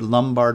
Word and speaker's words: Lombard: Not Lombard with an O, but Lombard with a U.